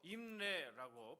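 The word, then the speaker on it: אמרי: 히브리어로 임레라고 발음을 하는데요, 명철이라고 하는 단어와 연결되어서 바르게 이해하고 분별하도록 이끄는 말씀이다 라고 하는 그런 의미가 담겨져 있습니다.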